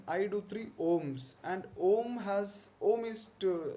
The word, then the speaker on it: Om: So it is important to understand how do you pronounce om. Om, I believe, pranava is also a beej mantra. So you pronounce it like the striking of a bell.